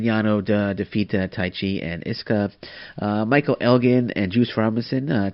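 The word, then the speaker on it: Ishii: a schinsky you know you don't pronounce to you so it's iske so tache and iske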